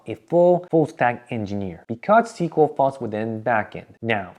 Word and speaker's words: SQL: I don't know why, but for some reason it's pronounced SQL, not SQL, but we write SQL.